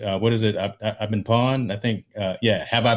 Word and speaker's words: Pwned: I've been pawned. I think, yeah. Have I been pawned? That it doesn't, it's spelled weird, PWNED, but that actually is a